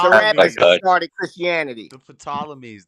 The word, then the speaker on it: Ptolemies: The Ptolemies. The P is silent, Freddie.